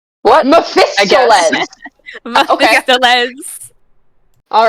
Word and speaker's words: Mephistopheles: you How are you pronouncing pronouncing it? Mephistoles. What? Mephistopheles.